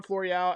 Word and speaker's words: Florial: uh what about floreal it's actually al with an a l'oreal uh i really like estevan floreal as a fourth outfielder